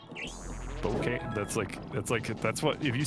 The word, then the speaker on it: Spokane: It's actually pronounced Worcester, yeah. Fucked. I know, it's dumb. Spokane, Washington. The old Spokane. Spokane.